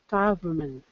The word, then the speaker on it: government: next one for me government government government yeah government so governor government so the trick is just that n in the middle govern government so you're going from the